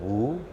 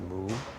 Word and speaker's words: mu: So in the Zen tradition, woo or in Japanese they pronounce it moo also means nothingness.